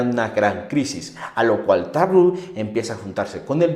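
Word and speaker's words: Tarrou: un reportero un reportero llamado tar taru lo pronuncié bien Sí taru taru qué pasa con este reportero era un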